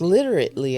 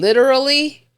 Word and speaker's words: literally: you just said and she was like literately and I was like you mean literally and she just looked